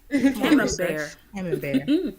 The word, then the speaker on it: Camembert: I had to do how do you pronounce Camembert? Come on, research. Look, there you go. Thank you, A. Camembert.